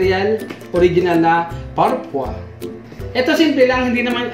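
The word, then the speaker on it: Parfois: Ito yung parpoise. Hindi ko alam kung paano babanggitin kung parpoise or parpua. Search ko lang kung paano pag-pronounce. Wait. Parpua. So, pag-pronounce pala na ito is parpua.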